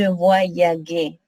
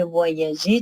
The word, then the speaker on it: voyageais: Ici, oui, il est nécessaire d'écrire E parce que sinon, vous allez prononcer je voyaguais. Pour que ça sonne J, il faut ajouter E. Je voyageais, tu voyageais, il voyageait.